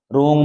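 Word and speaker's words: wring: रंग जैसे डब्लू आर आई एन जी रिंग रिंग माने क्या होता है निचोड़ यहां डब्लू साइलेंट है डब्लू और आर साथ साथ आने पर आप डब्लू का उच्चारण नहीं करोगे ये याद रखना यह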